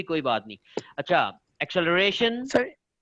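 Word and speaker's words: acceleration: ठीक है, एक्सेलरेशन सही इसको प्रोनाउंस करना हो तो प्रोनाउंसिएशन इसकी सही है एक्सेलरेशन। ठीक है, लेकिन हम जल्दी में एक्सेलरेशन भी कह देते हैं।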